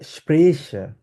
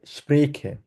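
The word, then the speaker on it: Sprache: দিকে যারা থাকে তারা বলা হচ্ছে তালিব বাস উচ্চারণ করে যেমন তারা বলা হচ্ছে স্প্রেশা কিন্তু আমরা এপাশের মানুষজন বলা হচ্ছে স্প্রেখে স্ট্যান্ডার্ড জার্মান হচ্ছে স্প্রেকে বলা আপনি যদি দুইটাই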